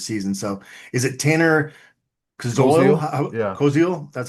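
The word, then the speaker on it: Koziol: Coil, that's how you pronounce it.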